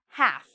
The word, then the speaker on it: half: Half. So again, half. No L because we have the A here.